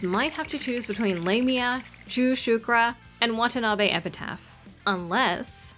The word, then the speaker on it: Lamia: pretty shook when I heard her name officially pronounced lamea and not lamia I still love her